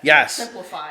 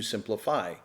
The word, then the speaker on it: SimpliSafe: And I will interject and say it is spelled simply. S I M P L I S A F. simplify. There's no there's no why in simply but it's like simply safe.